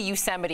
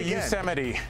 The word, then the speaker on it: Yosemite: if you've been to Yosemite, you've seen El Capitan, you've seen Half Dome.